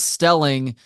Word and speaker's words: Stelling: I speak with somebody whose last name rhymes with my last name my last name is Elling your last name is Stelling uh you actually went